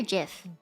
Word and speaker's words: GIF: you pronounce yeah for GIF GIF you say gif yeah okay I say give it is it's a g not a j so give me isn't